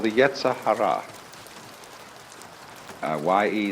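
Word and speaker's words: yetzer hara: rascality in Jewish theology this is called the yah Hara uh ye e z e r h a r a the Yahara the element of irreducible rascality which was created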